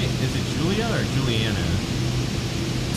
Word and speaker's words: Juliana: Wait, now, am I pronouncing that right? Is it Julia or Juliana? I'd say it's Juliana, but...